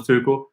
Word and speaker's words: Tuchel: I'm going to pronounce that correctly. There's different ways you can pronounce it, but Thomas Tuchel is what we're going with.